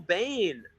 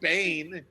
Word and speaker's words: Biehn: Oh, that Michael mispronounced- Biehn, not Bane.